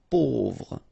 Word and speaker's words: pauvre: A, U together will produce this O sound. Pauvre.